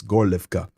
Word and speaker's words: Gorlivka: I know it looks like an H, but it's pronounced with a G. It's Gorlivka.